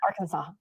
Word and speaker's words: Arkansas: Arkansas.